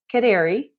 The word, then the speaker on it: Khoudary: Last name is Khoudary, and it's pronounced Khoudary, like a canary, throw in that D.